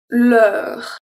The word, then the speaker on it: l'heure: À l'heure. L'heure. So here the EU is also a closed sound because the R comes after and close it.